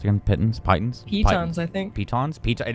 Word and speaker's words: piton: How the fuck are they pronounced again? Pittons? Pitons?